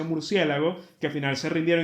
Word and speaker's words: murciélago: ejemplo, porque ya hay tanta gente que mal pronuncia murciélago que al final se rindieron y dijeron, "Bueno, será aceptar Murciégalo también como algo que está dentro del español oficial."